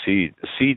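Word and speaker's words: CEDE: Spell that seed again? C-E-D-E. C like Charlie, E like Edward, D dog, E Edward. Seed, as if I'm going to seed something to you.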